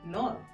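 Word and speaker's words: nord: French में क्या बोलेंगे नॉर नॉर एक्यू सेम हुआ नॉर नॉर अब देखिए यहां पे ध्यान रखने वाली चीज है यहां पे D will be silent okay in French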